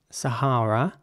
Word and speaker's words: Sahara: next word is spelled s-a-h-a-r-a and it's pronounced Sahara in British English Sahara with r sounding Ace and in American English it would be Sahara with an air sounding a in the middle Sahara it's as dry